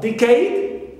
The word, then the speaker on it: decade: Also decade, although it ends with a, but we stress the first syllable d and not cade, the suffix.